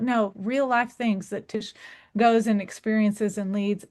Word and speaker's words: Tsh: It's Tish sounding like it has an I but with no I.